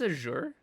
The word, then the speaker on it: Azure: you prefer to say azour or Azure that's Azure I think that's Azure Azure like like the dark blue color that's azour that's the